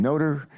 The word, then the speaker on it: Nutter: Both Judge Nutter, he pronounces his name Noter, but we pronounce it Neuter. Well, I've concluded he mispronounces his own name.